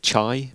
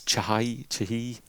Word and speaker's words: Chahi: I always want to say Eric Chai, but it's Chahi.